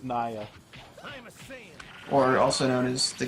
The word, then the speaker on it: Nier: pronunciation, it's Naya.